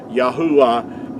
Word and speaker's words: Yahuwah: pronounced making vowel sounds yahuwah is the way that our creator's name is pronounced i hope this has